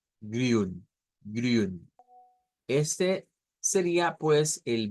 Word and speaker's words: grün: Esa Y en el alfabeto fonético internacional para nosotros debe de significar, recordemos, ese de acá, debe de significar una una I redonda. Grün, grün.